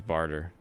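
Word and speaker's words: Bartre: yeah his name is bartra or bar tree something like that yeah the way he wants to his name is barter like a bartering man yeah that reverse though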